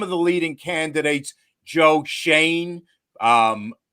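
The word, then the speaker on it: Joe Schoen: the leading candidates joe shane um spelled show in but pronounced shane from the bills rand carthan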